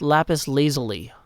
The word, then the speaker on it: lapis lazuli: It's pronounced lapis lazuli.